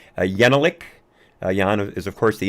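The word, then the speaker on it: Jekielek: You've got Steve Deese, again, Larry Elder, and of course, Jan, I believe his last name is pronounced Yenelik.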